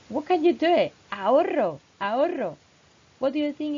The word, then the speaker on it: ahorro: So ahorro. Say, repeat after me. Ahorro. I want to hear that rolling R.